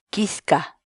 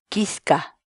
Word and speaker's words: kiska: de videos en la que te enseñamos a pronunciar algunas palabras en quechua Así que nuestra palabra del día por hoy es quisca quisca la palabra quechua en español significa espina por